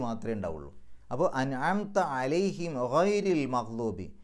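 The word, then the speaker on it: غير: അപ്പോൾ അൻഅംത അലൈഹിം ഗൈരിൽ മഗ്ദൂബി, ഗൈരി എന്ന് പറയുന്ന സ്ഥലത്ത് റാഇന് കസ്റ ആയതുകൊണ്ട് രി എന്ന് പറയണം. റാഇന് കെസ്റുള്ള സന്ദർഭങ്ങളിലൊക്കെ റാ എന്നുള്ളത് റീ എന്നുള്ള ഉച്ചാരണമാണ് കൊടുക്കുക.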